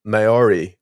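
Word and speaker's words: Māori: But it's gonna be the Maori culture in New Zealand.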